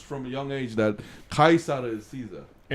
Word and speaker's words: Caesar: Oh, you mean Caesar is the Kaisar? Yeah, Kaisar is the actual Latin pronunciation.